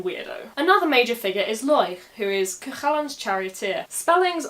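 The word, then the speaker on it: Láeg: Now I always spell it L, A with a fada, E, G, and pronounce it Loich.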